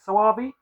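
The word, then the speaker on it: Soavi: by um Michel swvi I think you pronounce it saabi um he's he did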